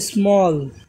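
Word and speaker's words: small: মতন যেমন আরেকটা দেখি এস এম A double L তাহলে স্মল এই যে এ প্লাস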